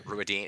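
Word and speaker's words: Rhuidean: And long way around, they tell him that he must go to, how am I pronouncing this? Ruadine? Yep. Yes. Yeah. Ruadine, is that how you, is that right?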